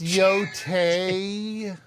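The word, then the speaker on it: Yōtei: It's Yote.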